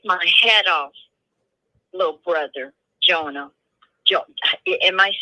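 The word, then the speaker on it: Jeohna: uh what is your grandson's name Jon Jona it's spelled j e o h a n a it's not the regular Jonah is in the Jonah in the well but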